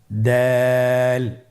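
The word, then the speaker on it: دال: দালের মাখরাজ হলো জিহ্বার আগা সামনের উপরের দুই দাঁতের আগার সঙ্গে লাগিয়ে উচ্চারিত হয়।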